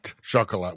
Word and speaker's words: Chocolat: Chocolat. We did the They Them Energy. Rosie demands we do chocolate after that. Here we go. Chocolat. That's how you say it in France.